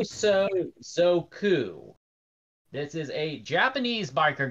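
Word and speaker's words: 暴走族: normally see out here this is a boso suku oh boy I butchered that pronunciation I'm sorry oh so zoku this is a Japanese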